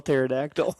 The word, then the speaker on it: pterodactyl: Because the P is silent. You only get it if you know how to spell pterodactyl.